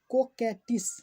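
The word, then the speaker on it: coquettish: इसको को पढ़िएगा और इसको के पढ़िएगा। कोकेटिस क्या पढ़िएगा? इसको को आई जो क्यू ई ई है उसको के और इसको टिस कोकेटिस।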